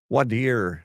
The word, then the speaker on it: voir dire: Wadir. Thank you. Yeah. It's some people pronounce it.